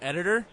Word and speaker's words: EDT49ER: I pronounce it Editor, but it's spelled EDT49ER.